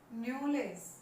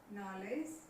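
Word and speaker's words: knowledge: देना है, यहाँ पे जो उच्चारण है न्यूलेज। जैसे जैसे वर्ड लॉन्ग होगा तो उसकी साउंड जो है वो थोड़ी सी डाउन हो जाएगी, क्या होगा, नॉलेज, नॉलेज।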